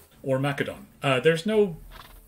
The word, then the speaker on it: Macedon: look at Philip of Macedon, or Macedon. There's no... The C in Greek doesn't make a S sound, it makes a K sound.